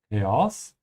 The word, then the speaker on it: Chaos: It doesn't have to mean just chaos. And make sure to add the small pause here between the A and O.